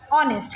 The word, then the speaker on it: honest: आवाज़ साइलेंट होती है, when H is silent so वी यूज़ एन, ऑनेस्ट, क्योंकि आवाज़ हमें सिर्फ ONEST की आ रही है, ओके।